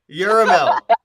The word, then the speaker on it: Yerahmeel: Yuramel, that was good. I take it. It's It's got an extra syllable in it. Mela Yeah, it's like with a D. It's Hebrew.